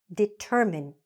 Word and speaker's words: determine: So this verb is not determine. This correct pronunciation is determine. Determine. Say it after me. Determine. So 2 things are happening. We're stressing the middle, determine, and we are not saying this E, okay?